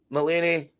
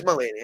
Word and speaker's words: Mulaney: John Mulaney. That's how you pronounce it. How would you pronounce that surname? Mulaney. Aye. Yeah, it is Mulaney, aye.